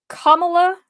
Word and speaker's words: Kamala: didn't hear it I it's kamla it's how you'd say her name I might acally say Kamala because there is a